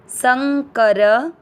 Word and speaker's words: संकरः: अ मिक्स करेंगे वर्ण, स के ऊपर बिंदी आधा न संग, क र दोनों अक्षर पूरे दोनों में अ मिक्स करेंगे संकर, र में अ की मात्रा तो विसर्ग को पढ़ेंगे ह, संकरः।